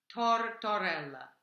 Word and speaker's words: tortorella: Tortorella, if you can roll your R's, please do.